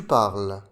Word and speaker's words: parles: Le E et le S ne se prononcent pas. Tu parles.